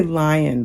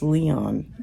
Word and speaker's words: Lyon: And, well, she actually worked in I'm going to say Lyon, but I think it's Leon, if you pronounce it the French way.